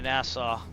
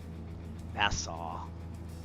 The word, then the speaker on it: Nassau: So, all right, we're on our way to Nassau. Notice I can actually pronounce that. I had to work on that. Nassau. I used to like, should I say Nassau? Nassau.